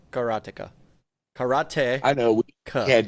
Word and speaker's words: karateka: bird karateka oh yes I called it I pronounced it character I used to I used to pronounce it that way as well however after I actually you know spent years studying martial arts it's karateka karate I know we had that conversation before